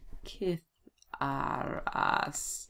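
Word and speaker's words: citharas: They're kith. Kith. Make sure now that I spell it right. C-I-T-H. Where are we? C-I-T-H-E-T-H-A-R. Kith-ar-as.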